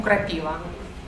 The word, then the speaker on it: крапива: авель или крапива крапива в эти слова растут деревья ель и его когда пишем на доске слова предлагаем учащимся найти дерево слове и на это дерево падает ударение поэтому серег поэтому крапива вот ошибка опасное слова